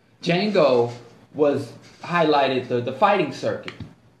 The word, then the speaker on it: Django: The movie with Tarantino and Jamie Foxx, Django, the D is silent. Django was highlighted the fighting circuit, you know, the professional fighting circuit, if you have.